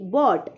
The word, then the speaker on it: bought: उसके बाद नेक्स्ट है BOUGHT बॉट, इसको BOUT बॉट पढ़ते हैं, GH इसका साइलेंट हो जाता है।